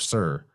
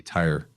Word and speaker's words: Tyre: And that's Phoenician island, Sur, spelled Tyre, commonly mispronounced word since it looks like it would be tire.